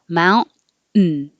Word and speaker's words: mountain: Mountain is similar to Manhattan in that your T is followed by an N, and they're both in the unstressed syllable, so the T can disappear. Manhattan. Mountain.